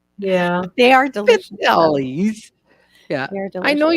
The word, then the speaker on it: pizzelle: The Americans call them the pizzel cookies or Pizza something. cookies. Like we totally murder the word. Yeah. They are delicious, though. Pizzelles.